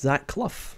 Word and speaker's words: Clough: And I believe it's pronounced Zach Clough.